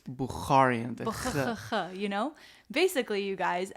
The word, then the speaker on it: Bukharian: my gosh I know say it with me buaran yes how do you even spell that I don't even want to attempt it but you need to have like the notarian or bararan like my friends you say it's buaran you know basically you